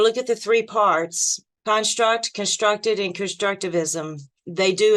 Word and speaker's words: construct: Let's go to the first word, construct. So we look at this word in front of you. There's two ways to say it. Construct, with the emphasis on the second syllable.